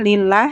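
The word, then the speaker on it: لِلَّهِ: kita bertemu lagi pada lafadz Allah tapi ini dibaca tipis atau taktik Hai dengan pengucapan Alhamdulillahi Alhamdulillah dulillah lillah ya to lafadz Allah nya dibaca tipis ya karena diawali dengan kasrah masih di ayat yang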